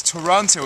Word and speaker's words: Toronto: Adam Daniel Mazet in a very rainy Fort Lauderdale-on-Ice, otherwise known as Toronto, otherwise known as Toronto. If you're not from here, it's 3 syllables.